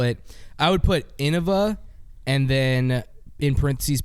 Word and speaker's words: Innova: It's yeah, it's just said in a different in o va. You think that's the best way to to spell that out? Innova. think it is. Cuz now it's now you just say it really fast. You say Innova. Innova, like almost i n n a.